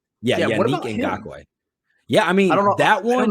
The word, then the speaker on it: Yannick Ngakoue: Yannick Ngakoue. Yeah, Yannick Ngakoue.